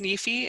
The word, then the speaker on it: NEFE: the national endowment for financial education it is pronounced nifi in acronym form which is surprising to a